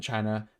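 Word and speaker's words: qi: 1,000 years dragons, I think it's pronounced chi. Ki is chi.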